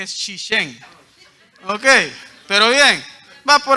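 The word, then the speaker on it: 谢谢: No es sheshe, es shishen.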